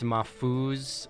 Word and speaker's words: Mahfouz: it's Mahfouz, Mahfouz is the Lebanese spelling and pronunciation.